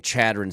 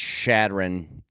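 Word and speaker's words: Chadron: get my Nebraska card removed I was saying chadon State it's shadon all right the pronunciation game wasn't my strongest okay I knew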